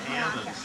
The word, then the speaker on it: almond: So they have to shake the L out of the trees, and so they become almonds to get the nuts.